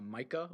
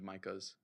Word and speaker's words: Micah: Wait, are you pronouncing Micah and Micah and like the Mika. same Some name? people care. I've met one of each. But I'm now lumping them as Micah and Mika. Okay. I've Sure. never met anybody that pronounces it Mika.